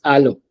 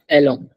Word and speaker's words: allons: It's alo. It's not elo. Desika, can you say this? You say it like this. Okay. Elo. It's not elo. Almost like this. It's alo. Allons. Yes, alo. Because A in French is actually A sound.